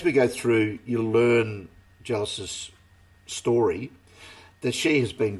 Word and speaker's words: Geillis: She can't save her, But what she's doing is she's talking to Gillis about what I say Gillis because it's spelled Geillis. Could be Gillis.